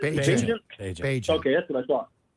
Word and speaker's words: Bagent: Because I will say this, you cannot tell me that when Tyson Bagent, or I don't know how you pronounce it. Bagent.